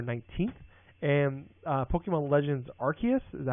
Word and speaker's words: Arceus: are coming november 19th and uh pokemon legends arceus is that how you say it yeah arceus okay is january 28 2022 so we have